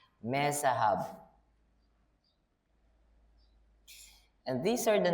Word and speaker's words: Mezahab: And his wife's name was Mehetabel, the daughter of Matred, the daughter of Mezahab. Why am I adding some syllables there? Mezahab.